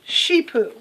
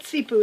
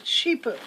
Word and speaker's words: CiPU: by the company that's that's cipu and it's pronounced sheepo not SEO it's sheepo and sheepo makes these kind of high-end really